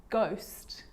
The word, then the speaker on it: ghost: choir choir echo echo with a g ghost ghost and with an r